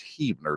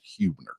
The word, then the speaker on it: Huebner: So it's Huebner, not Huebner.